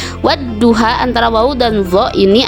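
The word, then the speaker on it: وَالضُّحَى: Cara membacanya yaitu dengan lamnya tidak dibaca tetapi lebur atau masuk ke huruf syamsiah yang ada di depannya. Contohnya wadduha. Wadduha antara wawu dan dho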